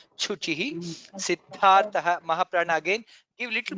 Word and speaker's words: कृच्छुचिः: Shishta kritchuchihi. Kritchuchihi. That was little, you might have to pronounce on the Mahaprana. Chuchihi.